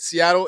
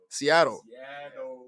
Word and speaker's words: Seattle: seattle washington slang is we don't pronounce our t's when people say seattle like i just said seattle it sounds like it with a d seattle but there's real people